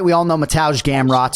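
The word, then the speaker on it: Mateusz: right we all know mataj gamroth so certainly Poland it's mataj when it's m-a-t-e-u-s-z and Cody obviously is graphically representing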